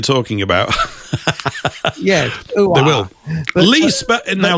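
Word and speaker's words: Lea: They will lee now. Lee, it's spelled L EA, isn't it? In this case, L E A.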